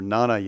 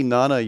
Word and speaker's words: Jnana: This is the same word as used in Sanskrit. See, na. That J is silent. It means to know. or Jnana Yoga, which is knowledge of God.